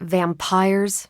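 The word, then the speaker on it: Vampyres: Vampires with a Y. Pronounced exactly the same as vampires.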